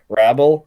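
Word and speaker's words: Wrabel: village by uh it pronounces his name rabble i think uh w-r-a-b-e-l that's a great song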